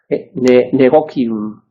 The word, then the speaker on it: negotium: Bueno, a ver, sobre la pronunciación, yo tiendo a pronunciar, según estudié, que es un latín italianizante o eclesiástico, es decir, pronunciando la C, incluso en latín, la C se lee como la K, negocium.